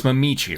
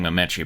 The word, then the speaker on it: Mamichi: so it's Mamichi, right? I keep saying Mamechi, but is it Mamichi? We've been saying Mamichi. Okay. Mamichi, Spicici, that way it rhymes with Spicici.